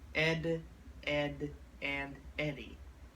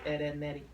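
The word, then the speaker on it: Ed, Edd n Eddy: are here to review the Cartoon Network classic Ed Ed and Eddie Ed Ed and Eddie good old classic Cartoon Network when did it actually start or it's actually pronounced Ed netti Ed n n with a indicator there it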